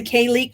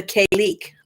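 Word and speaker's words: Cailleach: sun, were ruled by the K-leek. I don't know if I'm pronouncing that right, but it's spelled Cailek. Leach, or as she is sometimes called, the Kayleek Beur, Bheur, a Scottish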